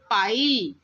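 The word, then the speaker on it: pile: तो आज हमने आई साउंड देखा जिसमें इ जो है वह म्यूट है।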